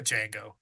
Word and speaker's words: Django: It's a Django. The D Django. is silent.